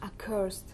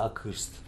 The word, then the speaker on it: accursed: Accursed. Что бы там ни было написано, считается accursed. Accursed. Вот так, только губы сдвигаются. Accursed. Accursed. Иначе будет неправильный звук.